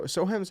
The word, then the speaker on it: Soham: specifically um but it's the soham so sohem's how you pronounce it uh railway explosion which